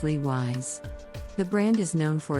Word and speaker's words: Levi's: 5 perfume Levi's is an American denim brand that is often mispronounced as ladies the correct pronunciation is Lee wise the brand is known